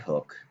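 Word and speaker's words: Hooke: hook he was english it looks like hooky but it's pronounced hook and he was observing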